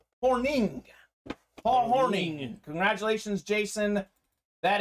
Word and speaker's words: Hornung: paul horning nfc north it looks like it's hornung but it is pronounced horning paul morning congratulations jason